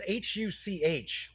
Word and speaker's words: Huch: It's Huch, like Hutch Games.